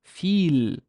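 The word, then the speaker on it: فيل: And there's a fa or a fa sound that has no haraka, no vowel, but there's a ya. So it's a long e sound. So it's feel, feel. Feel is elephant.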